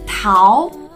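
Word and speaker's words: 桃: so how to say it in Chinese its pow pow so you find that how is only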